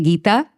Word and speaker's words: Gita: I'm going to ask you guys to learn to say my name. So say Gita and my last